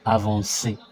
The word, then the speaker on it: avancer: The reason being when a C comes after O, A, O, or U, it forms a K sound. But you see the verb avancer, it has an S sound.